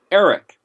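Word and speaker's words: ערך: if you look at iron rash cough it's basically pronounced eric and it means to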